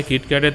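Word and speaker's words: キットカット: Japan হলো একমাত্র এমন দেশ যেখানে কিটক্যাটের 300 টার থেকেও বেশি ফ্লেভার পাওয়া যায়। জাপানে কিটক্যাটকে কিটো ক্যাটো উচ্চারণ করা হয়। যেটা জাপানের কিটো কারসুর সঙ্গে মিলে যায়।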